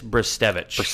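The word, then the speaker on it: Brzustewicz: it wrong too but from what I understand it's brevich brevich brevich Hunter brevich uh he's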